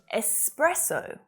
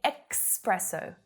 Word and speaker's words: espresso: this pronunciation mistake either it happens quite a bit with the s sound being pronounced as x instead so espresso sometimes some native speakers will say expresso expresso which is incorrect unless